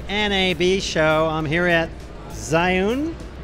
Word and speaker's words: Zhiyun: I'm here at ZHIYUN. ZHIYUN. I pronounced that for years wrong.